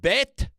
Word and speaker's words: Bethlehem: that's not how you freaking pronounce it okay it's it's pronounced Bethlehem it's pronounced bethleem it's it's be Bethlehem okay I don't memem